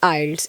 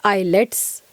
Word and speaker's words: IELTS: सी इट is actually आइल्स, इट्स नॉट आईलेट्स।